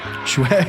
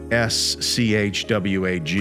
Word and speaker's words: swag: Swag, yo, you gotta stop saying that. I've never heard anyone say it like that. I have. Swag bag. Yeah, It's a but- swag bag. SWAG, not SCHWAG.